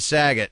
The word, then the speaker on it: Saget: Hey, this is Bob Saget. Yeah, it rhymes with faggot.